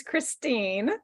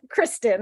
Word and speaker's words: Kristine: you so much yes it is Christine Christine and it's funny that you were saying it wrong so long because as I told you when we discovered this I had never heard you say my name until that first day so we had known each other for a year or two and I hadn't even known you were thinking of me with Kristen instead of Christine but